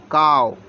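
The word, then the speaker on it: cow: डब्लू इसको पढ़ेंगे show लेकिन यहां पर सीओ डब्लू हमने लिख दिया सीओ डब्लू इसको को नहीं पढ़ेंगे इसको पढ़ेंगे काओ का मतलब काऊ कहते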